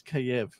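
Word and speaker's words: Kyiv: not to call it kiev yeah i don't know and then i had a friend text me she's like yo yo dude it's i speak ukrainian it's kiev i was like oh two syllables yeah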